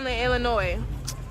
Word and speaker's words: Illinois: tell me it's uh the ass is silent illinois girl don't tell